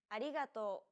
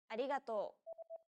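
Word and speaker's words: ありがとう: Riso pronounces this sound it sounds like a mixture between an r and an l sound the another way of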